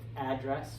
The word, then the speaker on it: address: Actually, it could be both, address or address.